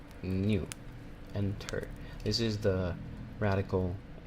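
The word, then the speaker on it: 入: Then we have another kanji made out of enter, which, by the way, enter is pronounced new, enter.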